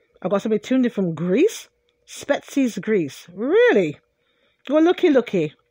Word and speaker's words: Spetses: shout out all I possibly tune different Greece spetses Greece really so one looky looky looky looky